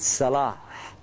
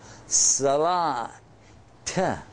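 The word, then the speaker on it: صلاة: called The Silent te if you stop you don't pronounce it it sounds kind of like an H at the end Salah a little at the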